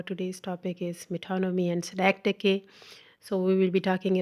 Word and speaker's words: synecdoche: So the first we will learn about synecdoche. The pronunciation of this word is synecdoche.